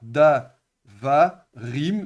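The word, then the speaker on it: דברים: marque im, et bien on avait un changement syllabique et donc on a da, va, rim. Donc, on a trois syllables. L'accent déplace de ici vers le suffixe qu'on a ajouté. Donc vers le quand on ajoute le pluriel, c'est la marque du pluriel qui prend l'accent.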